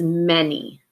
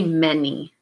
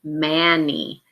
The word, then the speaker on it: many: go ahead and say many this has a heart by it because it can be tricky because it looks like it would be a short a mani but we don't pronounce it that way we actually make